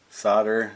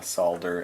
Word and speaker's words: solder: and then apply a little bit of solder solder as we say in America solder as the rest of the world properly pronounces it doesn't take long to get those